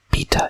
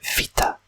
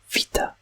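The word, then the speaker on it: βήτα: this one is called beta in english but in greek it's called vita vita and it's pronounced more like a v and then this is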